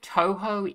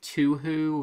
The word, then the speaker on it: Touhou: I'm going to jump in here I believe Touhou is the correct pronunciation I did some searching real quick uh people say to who and uh how how and all sorts of